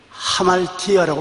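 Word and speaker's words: ἁμαρτία: 죄라는 헬라어로 하말티아라고 말합니다. 이 히읗자 발음에 액센트를 많이 줘서 하말티아라고 말합니다.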